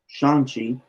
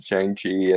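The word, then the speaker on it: Shang-Chi: uh yes i know the recent shin shot shanxi i think is a properly pronounced according to marvel i've always pronounced it changi and the comics have always pronounced saying to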